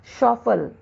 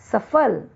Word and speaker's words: सफल: जैसे अशुद्ध शब्द है शौफल, लेकिन इसका शुद्ध रूप है सफल।